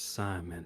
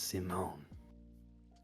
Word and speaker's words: Simone: And my name is Simon, but it's Simone.